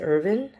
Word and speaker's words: Erwin: is spelled Irwin but he does pronounce it Irvin in this show and I'm excited because